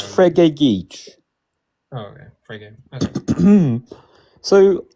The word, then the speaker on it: Frege: How do I pronounce it? Is yeah, it it's Frege.